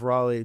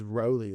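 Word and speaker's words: Rowley: We just had speaking of you know out in California we had Jeff Raleigh Jeff Roelly on and I think it was Roelly is how you actually pronounce it.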